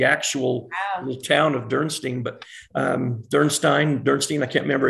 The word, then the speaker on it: Dürnstein: So the next day you were in Dürnstein. Is that yeah. how you pronounce it?